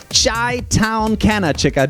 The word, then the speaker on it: ChitownCannaChica: And it is ChitownCannaChica.